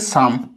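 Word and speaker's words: some: হচ্ছে সাম, এস ও এম ই, এটা হচ্ছে সাম, আর আগে যেটা পড়েছিলাম এস এম ই, এটা হচ্ছে সেম।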